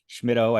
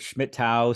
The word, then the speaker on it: Schmittou: no absolutely and Eric I appreciate how you got my name correct there schmido I've heard schmidtau sketchimoto shimitu when I was a classroom teacher I heard a lot of students pronounce my name without the m in the middle um so you know